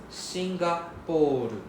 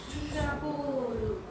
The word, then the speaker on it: Singapore: Nepon or next singer. Singapore. It's not singer. That's not X I, it's Singapore. Singapore. Right. The P we need to drag out is a long O sound.